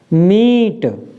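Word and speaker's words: mete: एम ई टी ई, अब ई के बाद एक अक्षर छोड़कर फिर ई आ गया तो हम यहाँ पर इसको क्या पढ़ेंगे? मीट, बड़ी ई की मात्रा के साथ।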